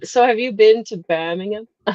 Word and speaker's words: Birmingham: so entertaining being in Birmingham like that just listening to people. No, you're saying it American again. It's Birmingham.